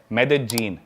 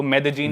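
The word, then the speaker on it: Medellín: उसकी एक सिटी है मेदजीन। स्पेलिंग में उसमें डबल एल आते हैं। मेदलीन होता है लेकिन कोलंबियन स्पेनिश में ल को ज बोलते हैं। तो मेदजीन वो शायद उसकी मेन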